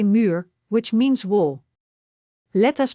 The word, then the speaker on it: muur: Main u is along you sound like a muur which means wall. Let us break it down. Muur. Muur.